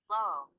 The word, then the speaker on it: low: Low. لا لو. مش لاو.